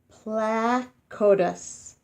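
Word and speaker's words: Placodus: it looks very strong say it like this plaque otis plaque otis placard this placa de slip both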